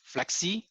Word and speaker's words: Flexe: You know, tech application in like Flexi. I don't know whether you guys have heard of Flexi, but if you not, go into it. It's spelled as FLEXE.